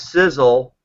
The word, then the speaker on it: Sisel: but it's really simple it's Sizzle which is s-i-s-e-l international I'll spell that rock